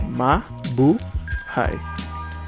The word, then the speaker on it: Mabuhay: this tattooed on us it's ma bu high like I said byan